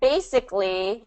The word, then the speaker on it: basically: Okay, and then basically is first syllable stress.